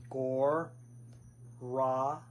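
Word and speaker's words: Gauranga: So why don't we say that together first of all just in the syllables. Gore. Raanga. Gore. Raanga. Now we can put the syllables back together and say it as the full mantra.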